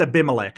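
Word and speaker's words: Abimelech: It's Aimilec. I looked this up because I couldn't pronounce it.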